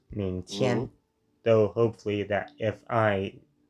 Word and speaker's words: 明天: 明天. Do remember the G is not pronounced and it's only used to fully nasalize the N.